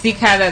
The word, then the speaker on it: Teekay: Am I pronouncing it? Yeah, you're right. Yes, Teekay, the record label.